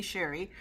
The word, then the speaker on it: Shari: Oh, Shari G, she pronounces it Shari, and me, Sherry, I pronounce it Sherry because my mom did.